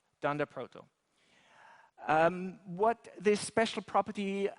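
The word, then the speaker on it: __proto__: underscore Proto underscore underscore so the the the python world has a lot of these double underscore variables and they call it thunder Proto so that comes from double underscore so that's a good way of pronouncing it and Brandon Ike seems to like it so it'll be it'll become popular for JavaScript Dand Proto um what this special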